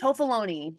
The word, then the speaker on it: Toffoloni: I'm sorry if I mispronounce her last name, Toffolani, I think it is, but is Nancy's Toffoloni, sister. I think. Toffoloni, I'm sorry.